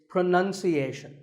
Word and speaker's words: pronunciation: you say it well we say pronounce pronounced and pronouncing but pronunciation there's no noun in this word it's pronunciation word number two is